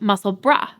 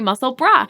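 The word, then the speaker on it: Musselburgh: so many different ways the way that it's spelled you could say muscle Berg muscle burrow muscle bur um and I had a German friend friend on here let me know that it is pronounced muscle bra so I will be doing my best to say muscle bra and I always appreciate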